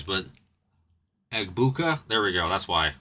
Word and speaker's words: Egbuka: True rookie Prism Silver of a Gugpa. A Gugpa. I can never pronounce this damn name right. I'm pretty good at pronouncing people's names, but Egbuka?